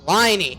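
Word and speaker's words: Lyney: meet up with Linny liny same as whiny it's ly pronounced whiny level 45 on NAIA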